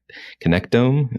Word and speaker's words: connectome: is this thing called I'm going to pronounce it wrong, I'm probably sure, but a connectome. Is that how you say it? Yeah, that's exactly right.